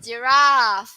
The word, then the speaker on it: giraffe: Okay, so the ra is going to be long.